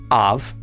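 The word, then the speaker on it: אָב: It is pronounced av and it means father.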